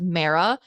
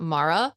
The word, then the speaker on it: Mara: And I literally wrote at the top of my notes that your name is pronounced Mara, not Mara, like Sarah.